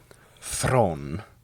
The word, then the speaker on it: Theron: Theron.